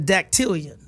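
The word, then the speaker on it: dactylion: okay so the word of the day is datian datian D datian is spelled d a c t y l i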